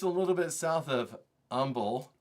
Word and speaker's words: Humble: Just a little bit south of Umble. It's not pronounced humble. It's Umble, Texas.